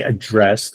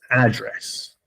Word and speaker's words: address: When you say address, this is a verb. This is to talk to someone. But when you're talking about where a person lives, that's address. The accent is not here, the A. And that's a noun.